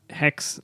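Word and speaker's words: HECS: a little bit about the way that these hex loans work or help loans so it's spelled h e CS um or HP and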